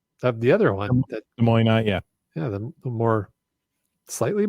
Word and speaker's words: Des Moines: Oh, that's 8T820, both in Des Moines. That's Wow. Washington, and it's pronounced Des Moines, not Des Moines like they do in Iowa.